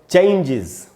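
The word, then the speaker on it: changes: और फिर है दोस्तों, कोई भी वर्ड अगर जीई से खत्म हो रहा हो, उसमें अगर हमने एस लगाया तो उसमें भी एस का उच्चारण इज होगा। जैसे चेंज, CHANGE, चेंज, और इसमें भी एस लगाया तो इसका उच्चारण होगा चेंजेस, चेंजेस, इसको भी चेंजेस नहीं बोलना चाहिए।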